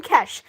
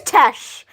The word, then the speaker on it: Tesh: I keep calling him Kesh. His name is Tesh.